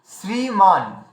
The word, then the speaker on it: শ্রীমান: হ্যাঁ, এইবার দেখুন আর একটা জায়গা আছে, সেটা হচ্ছে এই যে এটা লেখা আছে শ্রীমান, মানে শ্রীমান হিসেবে এটা, কিন্তু আমি বাংলার দৃষ্টিতে বলছি এটা শ্রীমান লেখা আছে, কিন্তু আমরা বাঙালিরা এটাকে বেশিরভাগ রানিংয়ে উচ্চারণ করি শ্রীমান।